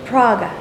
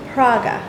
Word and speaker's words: Praga: say it River into Prague not Prague Czech Republic but Praga how'd it go get